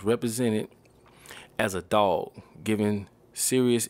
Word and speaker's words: Sirius: names come from okay serious pronounced serious it's the brightest star